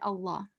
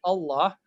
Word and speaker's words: Allah: So whenever it has a kasra, it is pronounced the way it should be, like lightly. But the word Allah, if it has a fatha or dhamma before it, it's an exception only for the word of Allah, not for all the lambs.